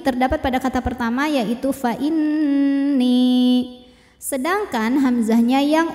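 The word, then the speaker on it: فإني: Minkum fa inni. Nunnya gunnah musyaddadah atau wajibul gunnah atau nun musyaddadah sebab nun bertasydid. Cara membacanya dengungkan. Jadi bunyi n-nya tahan sampai ada suara masuk hidung.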